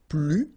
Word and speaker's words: plus: First structure, if you want to use this more, okay, so you will use this plus, and in that case you don't pronounce the S, okay, plus.